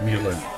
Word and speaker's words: Mile End: burnhamoff's Montreal style luncheonette Milan as in the French pronunciation he was a young